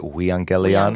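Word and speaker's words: εὐαγγέλιον: And so I've heard it, euangelion. Is that just the same word pronounced differently? Yeah. So how do you say it? I've been taught to say it euangelion.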